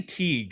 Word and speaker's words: Teague: I say Teague in my mind. The GH, I'm like, I don't know if you pronounce the G. I say Teague, but yeah, he is one of the founders of the Saint.